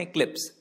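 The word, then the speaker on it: eclipse: इक्लिप्स, इसका correct pronunciation है इक्लिप्स।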